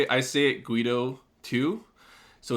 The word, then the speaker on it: Guedo: But then I found out recently it's Guido. Like, I guess my auntie went to Europe or some shit, and it's actually French, and it's Guido.